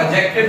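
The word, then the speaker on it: adjective: एडजेक्टिव क्या, आप ये देखो अगर ये जे से पहले आ जाता है डी, तो उस वक्त भी अमूमन हम जो है वो डी साइलेंट कर देते हैं। अब इसको एडजेक्टिव पढ़ते हैं, क्या पढ़ते हैं? एडजेक्टिव, ऐसे एडजेक्टिव, इसमें सिर्फ एडजेक्टिव बात सुननी है, शाबाश, ठीक है। यानी कि डी साइलेंट हो जाएगा इस तरह।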